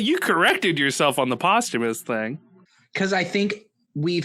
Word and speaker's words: posthumous: only read them yeah but I hate when people say Posthumus instead of posthumous yeah or Archipelago instead of Archipelago yeah but you corrected yourself on the posthumous thing cuz I think